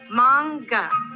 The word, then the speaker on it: manga: It's pronounced manga.